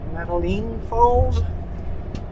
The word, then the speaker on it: Metaline Falls: Metaline Falls? Sure. Is that the right way of pronouncing it?